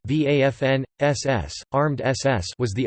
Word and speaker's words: Waffen: the waffen-ss German pronunciation vafn SS armed SS was